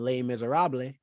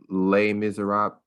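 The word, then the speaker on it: Les Misérables: Yeah, I think the French technically is like Les Miserables. I don't know. I don't speak French. There's an accent aigu over the E, which in French means that E is pronounced A, but I don't.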